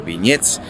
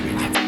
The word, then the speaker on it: beignets: Y la guía nos ha dicho que generalmente le responden, bueno, es como el nombre Ben y después un ye en plan estadounidense.